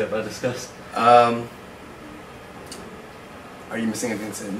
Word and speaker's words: Disqus: spelled d is q us and it is pronounced discuss